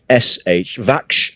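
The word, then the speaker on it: Vakhsh: is built on the vache river the river is spelt v-a-k-h-s-h vaksh river one of the 10 highest dams in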